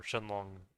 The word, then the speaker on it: Shenron: in in you know, in English you say Shenron, but the Japanese actually say Shenlon in or Shenlong in uh in Japanese.